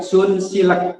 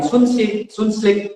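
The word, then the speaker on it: Sunsilk: Pak Ismet Sun Silek ya. Ada orang-orang menyebut Sunsil itu macam-macam. Ada yang bilang Sunslik ya. Ada yang Sunslik. Padahal yang benar, pengucapan yang benar adalah Sunsil. Nah, jadi nanti olive ini kira-kira bacanya gimana?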